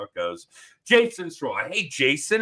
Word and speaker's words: Sirois: Yeah, Sirois, kind of like Illinois. We get that silent S. Sirois, like Illinois.